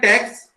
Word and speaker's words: TeX: It is based on the text pronounced as TeX, a typesetting language designed especially for the maths and science.